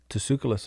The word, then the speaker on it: Tsoukalos: How do you say his last name? Tsoukalos, I believe. Tsoukalos. Okay. Yeah. So he says, I think this T's silent, but anyway.